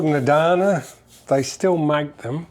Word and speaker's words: Adana: It's called an Adana. They still make them. It's called a what? Adana. Adana. How do you spell it?